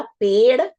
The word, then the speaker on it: पेड़: अगर आप सही उच्चारण करेंगे तो 100% आप सही ही लिखेंगे। आपने देखा, मैंने बोला पेड़ और फिर मैंने कहा पढ़ना, बढ़ना।